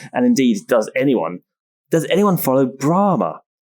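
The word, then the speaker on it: Brahmā: And I think, the idea of Brahma as a deity, or literally in Sanskrit, it should be pronounced Brahma. There's a long A at the end with a line across the top when transliterated into English.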